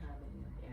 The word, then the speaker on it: habanero: Lemon habanero. Yeah, so the H is silent.